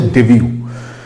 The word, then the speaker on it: debut: উচ্চারণটা হচ্ছে ডেবিউ।